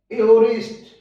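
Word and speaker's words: aorist: ए के साथ ओ हो तो साउंड बनेगी ए ओ। जैसे ए ओ आर आई एस टी, एओरिस्ट, ए ओ आर टी ए, एओर्टा, या एओर्टा, एओर्टा।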